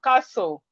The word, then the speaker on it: castle: We have castle. We have whistle. We have fasten. We have soften. Fasten, whistle, castle, listen. The T in these words are silent.